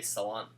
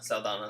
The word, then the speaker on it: Saldana: um gamora played by zoe salon saldana saldana there you go that's how you say it rocket the gun-toting